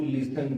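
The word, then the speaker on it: listen: सुनना के लिए इसकी अंग्रेजी होती है टू हियर और टू लिसन टू। इस लिसन में टी साइलेंट है, लिसन नहीं बता, इसको पढ़ें लिसन पर।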